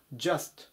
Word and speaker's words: just: てください 349 バンジャスト just 発音に注意ですね 10 じゃなくて者っていう風になりますちょうどとかたった